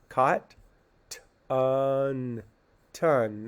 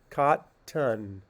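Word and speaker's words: cotton: make short vowels uh caught on ton it actually has more of a schwa sound caught ton and the reason um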